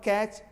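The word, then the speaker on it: catch: यहाँ पर कैच, इन कैट च, कैट बोल लेंगे तब च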